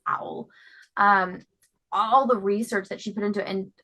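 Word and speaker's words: Auel: the research that um I can never pronounce her last names like owl or something it's not spelled like owl the bird it's owl um all the research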